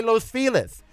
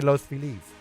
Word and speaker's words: Los Feliz: I don't care what most of Americans say, they're all The pronunci- Just like it when you live there, you say Los Feliz, at which is still wrong. It should be Los Felice, but whatever.